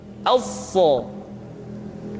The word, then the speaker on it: ص: Huruf sa sama seperti huruf sin dan huruf za, yaitu lidah berada di antara dua gigi seri. As-sa. Untuk memudahkan pengucapan huruf sa, perhatikan sifat as-safir yang dimiliki oleh huruf sa. yaitu suara tambahan yang terdengar menyerupai dengan suara angsa.